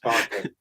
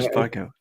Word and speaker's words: Sparko: in the street, just Sparko. You're Sparko. Okay. It's Cockney rhyming slang. It rhymes with Donnie Darko.